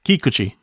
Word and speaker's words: Kikuchi: Kikuchi. Oh, you got it that time. Okay. But yeah, Ki. Oh, the emphasis on the syllable on the first syllable. Yeah, Kikuchi.